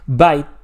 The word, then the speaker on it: byte: menos te va ayudar by se pronuncia igual que mordisco aunque mordiscos